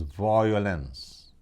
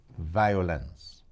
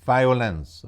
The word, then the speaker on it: violence: the correct pronunciation is violence. I myself have heard many times over the years people giving formal presentations and talking about domestic violence. It is not pronounced violence, it's violence, V-I-O, not V-O-I.